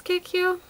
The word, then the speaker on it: Cacao: And I've also been using this sometimes in the crease, and this is I think it's Cacao. It's spelled C-A-C-A-O.